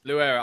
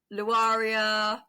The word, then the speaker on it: Louaira: correct yes yes yes so most people get your name wrong I think you told me I normally get Laria lauraa I think I think people tend to over complicate it it's just said how it's spelled exactly I think I